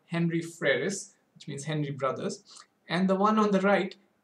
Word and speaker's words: Frères: The one to the western edge on the moon is called what I would pronounce as Henry Frères.